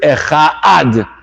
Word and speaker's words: echad: So you have to be very careful about pronouncing the dalid, and careful not to mispronounce the ches to turn it into two words or mispronounce the word. You have to be careful to pronounce this word properly.